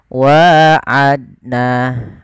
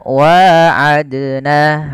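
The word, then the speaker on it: وعدنا: Nah, kesalahan yang terjadi membacanya sama, tidak mantul. Yang pertama itu kesalahan dalam membaca qalqalah. Yang kedua, dia menambahkan hamzah. Contoh yang pertama, wa'adna, tidak memantul. Yang kedua, menambahkan hamzah, wa'adna, itu menambahkan hamzah. Harusnya tidak boleh. Harusnya bagaimana? Wa'adna, adna, bukan adna, bukan. Tapi wa'adna.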